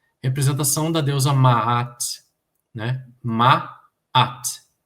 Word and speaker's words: Ma'at: Ma'at. Como em Canaã ou Saara, né?